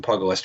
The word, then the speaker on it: pugilist: The 1GG, and my apologies if I'm just not pronouncing Pugilist right.